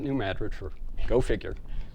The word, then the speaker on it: New Madrid: New Madrid area and looks like New Madrid but they pronounce it New Madrid for go figure it's